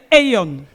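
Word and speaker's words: aion: And the third one is aeon. Et le troisième, c'est aeon.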